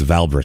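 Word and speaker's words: Wałbrzych: I looked it up it's valb in English is how you say it but wow there's not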